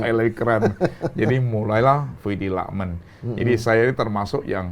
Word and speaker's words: Luckman: Nama Fuidi Lukman ini kalau baca ya Lakmen ya.